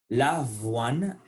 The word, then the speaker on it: avoine: L'avoine, faites attention à la prononciation du V.